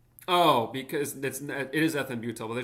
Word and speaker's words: ethambutol: Pronounce ethambutol. Okay. Who decided Who decided that? Oh, because that's It is ethambutol, but they're saying it It causes optic neuropathies as an adverse effect.